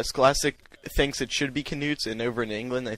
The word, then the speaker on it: Knuts: this class i know the scholastic site says it's knuts but when joe was reading haploid prince in edinburgh she pronoun she pronounced it as nuts no k um i meant to